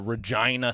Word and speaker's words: Regina: Um, it was in uh Regina, Saskatchewan. That's not anything. No. Regina. You know what that's next to? The city that rhymes with fun. That's the classic Regina joke.